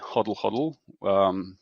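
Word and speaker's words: Hodl Hodl: differently well we just we just call it huddle huddle that's because it's easier to pronounce it this way in my language but whatever people prefer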